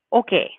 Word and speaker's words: hockey: Okay, ustedes no están jugando al hockey. Remember that H is silent in Spanish. You don't pronounce it, even though maybe you say, oh, that looks like the English word hockey.